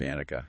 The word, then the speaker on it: anicca: concept of impermanence, or let me see if I can get this right. Anicca? Is that how you say it? Anicca. Yes. Yeah. Nailed it.